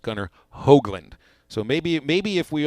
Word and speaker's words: Gunnar Hoglund: last name starts with Hogg but it isn't pronounced Gunnar Hoglund it's pronounced Gunnar Hoagland so maybe maybe if we all if we